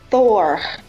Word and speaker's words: Thor: It is pronounced Thor with two rolling R's at the end, and obviously I can't do those very well, but that was my attempt.